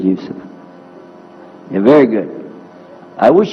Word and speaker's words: Yusuf: my name is yusuf did you say yusuf and he said yusuf you're very good i wish you teach my wife she keeps mispronouncing it she calls me useless now how many of you were in the